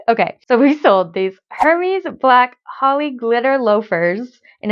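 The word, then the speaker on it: Hermès: can't say it properly I call it Hermes I am aware that you're supposed to say Aaron Mays or whatever and I just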